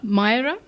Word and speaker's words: Maayera: I feel like we haven't had you in London for a long time, and you're here to promote your single, Maayera. Is that how you pronounce it?